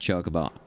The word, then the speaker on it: chocobo: The fat chocobo is a demanding mistress, and we are too... It's... Chocobo? That's how you say it? Not chocobo? I've been saying it wrong this entire time?